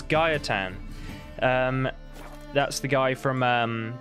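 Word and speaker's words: Gaetan: say say his name I've been saying it wrong this whole time it's Gaia tan and that's the guy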